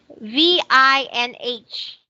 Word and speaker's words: Vinh: So Vin, is this Vin? VINH. Vinh. Mm-hmm. Yeah, I also have gone to Vinh.